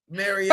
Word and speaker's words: Mariota: Mariota.